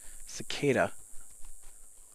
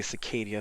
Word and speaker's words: cicada: Sentry point oh I forgot about the Cadia cicada I don't know why I like to say Cadia that's not the way it's pronounced I hear you don't bother me though